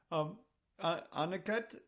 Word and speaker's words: Aniket: Aniket, am I saying that somewhere in the ballpark, I hope? Yeah, absolutely correct. It's the right pronunciation.